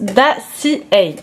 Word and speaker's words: Dossier: Donc ici il s'agit de la marque, alors ça se prononce pas du tout dossier, ça se prononce Dacia.